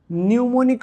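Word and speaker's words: mnemonic: इन्हें हम कहते हैं न्यूमोनिक ऑपकोड्स। तो इसलिए मैं यहां पे लिखूंगा न्यूमोनिक ऑपकोड्स। न्यूमोनिक का स्पेलिंग M से शुरू होता है, ठीक है।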